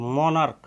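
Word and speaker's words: monarch: এখানে দেখতে পাচ্ছেন সিএইচ আছে, এটার উচ্চারণও কিন্তু কর মতো হচ্ছে, মনার্ক, সিএইচের চর মতো উচ্চারণ হয়নি।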